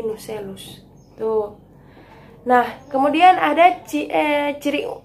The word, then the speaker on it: nucellus: Pada tahap ini, bakal biji terdiri dari kantung embrio diapit oleh nucleus dan 1 atau 2 integumen. Itu melekat pada dinding karpel oleh tangkai funiculus. Mohon maaf, itu bacanya bukan nucleus tapi nucellus.